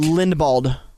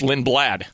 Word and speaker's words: Lindblad: stocks matt would you how did you pronounce his last name that second place nick linda bald lindblad it's lin blad okay every time i